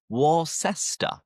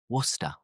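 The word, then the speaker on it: Worcester: this podcast is wor because most people looking at how it's written they would think ah it must be pronounced warcest right warster but no we don't pronounce it like that it's simple just wora Therefore, going back to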